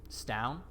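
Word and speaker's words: Staun: in which you seek oh how do you spell that s-t-a-u-n stown last name vespi v-e-s-p-i this rough sketch of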